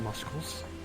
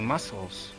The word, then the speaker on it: muscles: uh everything I got muscles muscles muscles there's a c in muscle muscles that's how you write it but that's not how you say it you said you you say muscles no it's muscles someone's